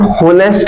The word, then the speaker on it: honest: it's very simple andest here is the h letter but we omit this H we pronounce it as an honest no an Hest how